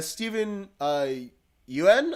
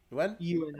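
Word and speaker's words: Steven Yeun: And then finally, Stephen Yuen, I think is how you pronounce it. Yeun.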